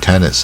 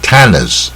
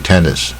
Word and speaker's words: tennis: tennis 是卷舌卷一半 tennis 你不要念 tennis 大卷舌不对，也不要念不卷舌 tennis 不对像桌